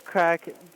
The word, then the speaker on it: craic: So is crack, it's spelled C-R-A-I-C. Is that a proper spelling, or did you just tweak it a bit so it looks like crack? No, that's the Gaelic spelling of it.